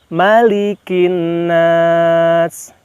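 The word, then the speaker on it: ملك الناس: Hati-hati, yang pertama, kehati-hatian kita di kalimat malik. Kenapa? Di surah An-Nas maknya pendek. Sedangkan di surah Al-Fatihah di surah Al-Fatihah maliki yaumiddin. Panjang. Nah, disinilah kita membedakan antara surah An-Nas dengan Al-Fatihah. Hati-hati, jangan sampai di surah An-Nas kita membaca maknya panjang menjadi malikin nas, begitu ya.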